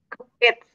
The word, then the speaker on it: cooked: Cooked. Ajá. Cooked. Cook. Ajá. La E no suena, entonces es como con T.